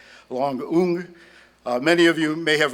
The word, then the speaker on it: Loung Ung: I asked her if she could say Dombrowiak, and she tried, and I'm trying to say her name properly too, so it's Loung Ung.